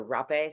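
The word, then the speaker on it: rapé: You do uh hape or rape some people pronounce it which is like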